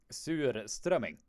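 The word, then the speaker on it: surströmming: you are saying uh it is basically pronounced as sewer strumming so if you if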